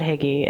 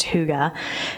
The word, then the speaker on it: hygge: hygge fest hygge spelled hie GE it's not Higgy it's pronounced hygge is a Scandinavian way of life for during